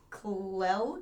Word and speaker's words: Clell: So there was a criminal by the name of Clell Watson, I believe is how you pronounce it. It's spelled Clell. Oh. So it's like Clell Watson.